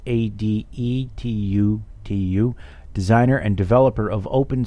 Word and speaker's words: Adetutu: Emmanuel Adetutu, I think that's how his last name's pronounced, Adetutu, designer and developer of